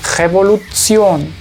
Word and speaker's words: Revolution: Todas las palabras en alemán que ustedes encuentren con esta terminación se leen Zion. Por ejemplo, en este caso se lee Revolution, Revolution.